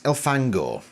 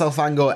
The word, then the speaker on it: Elfangor: They put more emphasis on the last syllable rather than the first syllable.